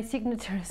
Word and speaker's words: signature: feared my is signature notice how I pronounce the T and the you this is a very good pronunciation point signature okay similar what is the country that is bordering Spain on the West Portugal good Portugal so it's the TU we pronounces a cha Portugal signature okay naturalism nature nature